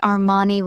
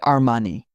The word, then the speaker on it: Armani: I've heard people say Armani with stress on the ni. Italians say Armani.